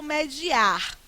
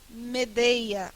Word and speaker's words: medeia: pode não é porque as pessoas erram a pronúncia do verbo mediar as pessoas conjugam com ele media mas o adequado é ele Medeia é horrível né o